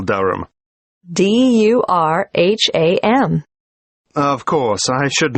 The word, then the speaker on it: Durham: How do you spell Durham? D-U-R-H-A-M. Of course, I should know that. But it's just one of those names that sounds quite different from the way you spell it.